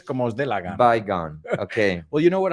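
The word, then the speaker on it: Baygon: Well, we say bygone. You say bygone. Bygone se Okay. pronuncia. Como las dos, Well- la preposición by y luego gone.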